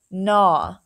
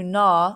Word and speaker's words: gnaw: see a GN word the g is silent and just says the n Sound N I will understand